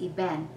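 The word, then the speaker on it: אבן: the hebrew word for stone and this is pronounced eben event okay and he told me he taught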